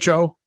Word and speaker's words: pho: It's a soup, but it's PHO. Okay. You pronounce it pho.